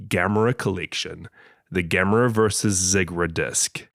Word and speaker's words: Zigra: Collection, the Game versus Ziggra disc, Zegra, we watched the US trailer and without a shadow of a doubt, it was pronounced as Ziggra.